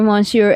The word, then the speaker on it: Monsieur: Good evening, my dear Monsieur M.